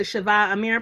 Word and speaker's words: Shava Amir: last but not least sister shava amir please correct me if i'm saying that incorrectly did i say it right yes you're correct you said it right you got it right hey dad that's the